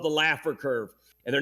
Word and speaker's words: Laffer: this thing called the Laffer Curve and they're not maximized this letter someone smart needs to get into politics and change this game Jesse I believe it's actually pronounced the the fur curve problem is Jesse's one